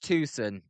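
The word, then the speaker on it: Tucson: I believe it's pronounced Tusson as uh OP noob says as there's a foul bance one and two.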